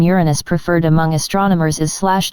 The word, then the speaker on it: Uranus: pronunciation of the name Uranus preferred among astronomers is slash jrns yorns with stress on the first syllable as in Latin Uranus in contrast to slash